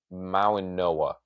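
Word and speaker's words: Mauigoa: I think the G actually sounds like an O from what I've heard people, or an N. It's Mauinoa, which is not how it looks.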